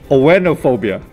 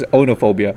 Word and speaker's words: oenophobia: No, it's called oenophobia. Okay. I wish I pronounced that right. Onophobia. So I would say it's onophobia. O-E-N-O-P-H. O-B-I-A.